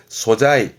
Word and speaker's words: 素材: 발음은 소자이, 소자이. 음으로는 소로 가네요. 발음은 소자이.